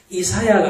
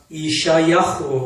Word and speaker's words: 이샤야후: 이사야가 아닙니다. 이샤야후.